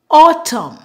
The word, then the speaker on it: autumn: normally at the N we remove the n and pronounce the m the m sound for example Autumn colum condemn Dam him